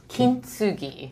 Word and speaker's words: Kintsugi: So in Japanese, typically you wouldn't say tsu. TSU is pronounced tsu. Got it. So very faintly with the T.